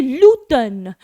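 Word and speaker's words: l'automne: आप क्या करते हैं जब हम लोग इंग्लिश में ऑटम बोलते हैं तो हम लोग एन को साइलेंट कर देते हैं यहां उल्टा होता है यहां हम लोग एम को साइलेंट कर देते हैं तो हम लोग बोलेंगे ल टर्न ल टर्न ल टर्न दो प्लस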